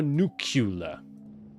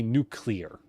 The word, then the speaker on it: nuclear: So if we look at the nuclear plant, the nuclear, you put nuclear or nucula, you look at how it's spelled. This should be nuclear rather than nuclear.